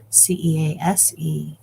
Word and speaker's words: Cease: I've learned that is how his name is pronounced, Cease.